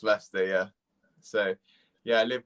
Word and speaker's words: Leicester: so a lot of people call it like lychee yeah yeah that's what i wanted it just pronounced leicester yeah so yeah i live with my mum